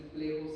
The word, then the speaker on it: plexo: se denomina es el plejo celíaco se escribe flexo con x pero se lee plejo como México hay algunas excepciones no